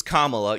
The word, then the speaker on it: Kamala: not Michael Eric Dyson saying excuse me it's Kamala you have to pronounce it right and then of course he